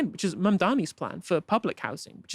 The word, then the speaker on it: Mamdani: And furthermore, the name is Mamdani, M-A-M-D-A-N-I.